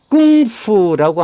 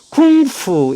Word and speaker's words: 工夫: 이때 K는 G라고 하는 발음을 K로 표기를 했습니다.